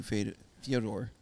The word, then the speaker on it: Fyodor: I mean, all you have to do is think about it's like Theodore. But Right, with an of F.